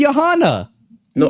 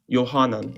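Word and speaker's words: Yohanan: No, you gave me Johanna. No, I gave you the other one which is which had a C in it.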